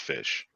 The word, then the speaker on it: ghoti: something but anyway it it breaks down how geo our gh oti is pronounced fish now the fink noddle